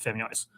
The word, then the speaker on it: Femyoz: Because even though it's pronounced Femyoz.